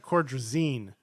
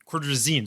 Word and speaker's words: Cordrazine: them cortisone cream it's cord resign it's they pronounce it cordrazine cordrazine sorry sorry so that's why you heard it